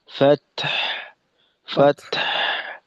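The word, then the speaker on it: فتح: যেমন ফাত ফাত অর্থাৎ মনে করেন এখানে যেমনটা হবে যে তায়ের মাখরাজ থেকে প্রথমে তো ফাত বলে তা এর মাখরাজে গিয়ে আমাদের আওয়াজটা আটকাবে।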